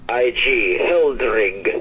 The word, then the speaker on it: Heldrig: Yes, my name is Hildrig Uthmatar. I'm the brother of Hedwig. I'm sorry. Would you spell that for just a moment, please? Most certainly. Hildrig, H-E-L... H-E-L... D-R... D-R... I-G. Hildrig.